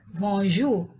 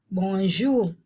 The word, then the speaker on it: bonjour: or repeat after me bonjour bonjour the r is not pronounced clearly or properly bonjour could they say t